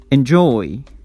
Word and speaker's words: enjoy: Relax, produce, include, begin, become, forget, enjoy, enjoy, receive, receive. We stress the second syllable.